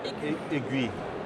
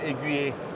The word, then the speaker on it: Aiguë: se prononce pas « Aiguë-e » ? Non Donc c'est juste « Aiguë » C'est ça Je vois Quand il y a deux points comme ça, on prononce la lettre qui précède telle quelle Donc c'est « Aiguë